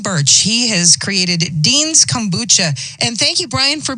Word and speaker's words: kombucha: Is it kombucha? Is that right? You got it. That's perfect. Yep. Not many people get it.